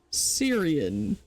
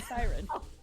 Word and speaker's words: Siren: Siren. Syrian. Not Syrian, Siren. Syrian army. Sire, not Syria, so they're Yeah.